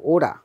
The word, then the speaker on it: ওরা: যদিও কোনো কোনো মানুষ অরা বলে, যে অরা কইছে, মানে ওরা বলেছে, তো এরকম অরা বলে। তো অরা এখানে অর উচ্চারণ হবে না, এটা ও, ওরা, ওরা, ও উচ্চারণ করতে হবে।